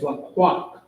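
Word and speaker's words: לקח: The word for take in Hebrew is laqaq. Laqaq, which is L-A-Q-A-C-H, or la and ah together, the qua and the ah, the ka and the ha. And it's spelled L-A-Q-A-C-H.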